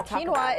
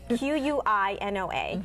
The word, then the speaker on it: quinoa: you're more welcome to try it um now quinoa is an interesting grain that has it's spelled not the way it's it's pronounced really q-u-i-n-o-a so this quinoa salad quinoa is one of